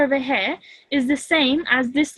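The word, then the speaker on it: ث: So I said, like in English, we have the letters thick and thin, like just like that. That sound th.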